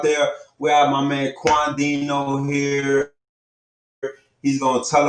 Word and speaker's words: Quandhino: Quandhino. Quandhino. Thanks for having me. We pronouncing that correctly, right?